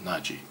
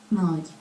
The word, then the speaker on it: Nagy: Janos Nagy. Let's see if I can pronounce his last name correctly. It would be Nagy.